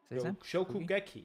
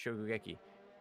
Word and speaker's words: Shokugeki: Shokugeki, I think is how you pronounce. Shokugeki.